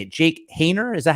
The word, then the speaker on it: Haener: Jake Haener? Is that how you say his name? Jake Haener, yes.